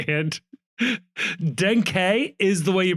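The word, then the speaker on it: Denkey: I always love this because we get the official pronunciation, and Denke is the way you pronounce it, but they also clarified that Kevin is pronounced Kevin.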